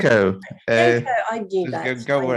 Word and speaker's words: Didenko: Oh gosh, Anton, how do you pronounce Didenko. Didenko, I knew that.